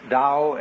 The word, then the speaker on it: Tao: is called a dull t-a-o pronounced Dao in the Mandarin dialect Cantonese dialect take your choice Dao means the course of